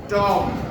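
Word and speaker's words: tomb: টম।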